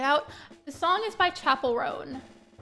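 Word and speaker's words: Chappell: the song is by Chapel rone it's like the normal word Chapel like a church chapel but it's spelled with two L's instead of one I'm pretty sure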